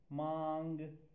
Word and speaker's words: 忙: Mang. Its sound, pronunciation, Athenians are written as Mang.